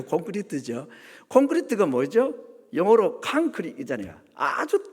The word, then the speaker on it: 콘크리트: 아 이건 이제 일본 사람들이 발음이 안 되니까 공구리 공구리 그랬는데 원래는 이제 공구리가 아니고 콘크리트죠.